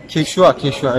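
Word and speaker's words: Quechua: Gerçek okunuşu nasıldı ya? Keşua evet. Keşua diye okunuyor. Ben bunu atıp şey şu diyordum. Ama gerçeği Keşua'ymış. Arkadaşlar şimdi ikinci önceliğim benim şapka.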